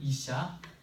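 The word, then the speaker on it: אִשָּׁה: 그리고 이거는 이샤. 자, 히브리어로 남편은 이시라고 이렇게 읽는 겁니다. 이시. 그 다음에 아내는 이샤라고 읽는데 여기에서 하나님께서 정말 신기하게 어떻게 이렇게 의미를 집어넣으셨을지 감동입니다.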